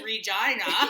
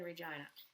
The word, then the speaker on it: Regina: shout out to like the city that rhymes with f right we all know that's Regina actually Regina had this campaign